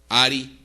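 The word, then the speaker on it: ארי: Ari, en hebreo así se pronuncia.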